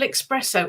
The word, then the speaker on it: espresso: now Su oh Double Espresso oh espresso sorry I pronounced it wrong like most people oh Double Espresso you